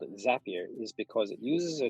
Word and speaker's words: Zapier: actually looking at is i know you're thinking it will rhyme with tap cap and gap and you're right there is a tool called zapier and zapier is an